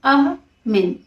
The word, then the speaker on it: Amin: Symbol का नाम है वर्ल्ड पीस और ज़ेबू में से ट्रांसलेट किया गया है अमीन से, AMIN प्रोनाउंस किया गया है अहमिन, AH-MIHN अहमिन।